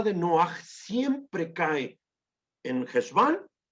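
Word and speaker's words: חשוון: Dos cosas tenemos que saber del mes de Heshvan, o se llama en términos askenazí, Mar Heshvan. En términos generales es Heshvan, solo que los askenazís pronuncian mucho Mar Heshvan.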